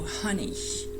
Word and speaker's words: honey: So the difficulty here is to pronounce the H, basically, and also not to use a diphthong for the last syllable. So honey.